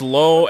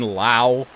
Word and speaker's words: Lowe: see now don't don't the Rays have Josh low and a Brandon Lao spelled the same but pronounced differently on the ground to